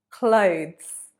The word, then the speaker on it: clothes: Clothes. Number 21, clothes. The pronunciation of this word is very similar to close.